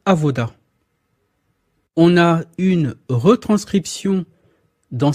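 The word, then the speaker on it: עבודה: l'avez ici c'est Avoda vous voyez la lettre B mais ça se prononce ve c'est Avoda on a une retranscription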